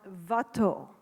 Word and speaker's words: Watteau: his work Jean antoan vat and I'm saying vat because that's the way Philip de montebella pronounces it it's been a lot